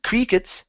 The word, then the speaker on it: crickets: is the word crickets give me a short I sound instead of cre crickets it's I I CRI crickets crickets good all right nice job